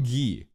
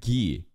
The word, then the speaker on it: Guy: call him ghee why why did they pronounce it ghee cuz like you know in Naruto there's a character named guy might guy they can pronounce a guy in that show but in this show it's like nah it's ghee it's ghee Crimson guy is G in French is he supposed to